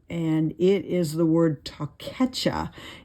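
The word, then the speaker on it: תּוֹכֵחָה: Punishment, on the other hand, is the Strong's number 8433, and it is the word takecha. It's spelled TAWKECHAH, and this means rebuke or correction.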